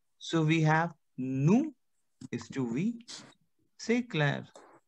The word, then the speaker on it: nous: Now, we have nous, which is to we. I cannot say nous. No. Because we have a consonant ending like S. That would be silent. So we have nous is to we.